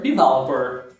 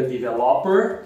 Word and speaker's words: developer: O próximo é o software developer. Dev, que é o mesmo que também o programmer or coder. Sempre atenção com a sílaba tônica. Software developer. Isso, não diga developer, developer. E também programmer, sílaba tônica é a primeira.